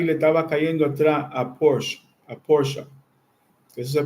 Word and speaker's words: Porsche: 2 turbos, Ferrari le estaba cayendo atrás a Porsche. Eso se pronuncia Porsche.